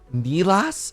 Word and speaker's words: Nilaus: Is it Nilaus? Yeah, it's so good. Oh, everybody in chat being like, yeah. Nilaus, thank you.